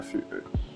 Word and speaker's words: FU3: En fait, FUE, c'est un peu lorsqu'on prend le feu en fait. Feu, ça s'écrit le FEU. Du coup, j'ai juste inversé le E et le U et j'ai préféré mettre un 3 à la place du E, c'est tout en fait.